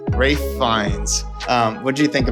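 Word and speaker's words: Ralph Fiennes: I can't remember how he pronounces his name. It's Rafe Fines.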